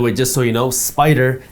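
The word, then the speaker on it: SPDR: just so you know spider is spelled s p d r now when we talk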